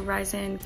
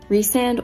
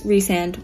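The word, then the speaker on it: Rhysand: stressed right now i'm at the part where ryzen hi editing olivia here i'm just now learning that uh the character i'm referring to as i sand or rise is actually pronounced resand or reese so i'm going to say it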